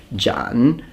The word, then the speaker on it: Zhanmadao: Chinese, please remember that when you have two third tones, you don't fully pronounce them, but the first one of the two will change into a second tone.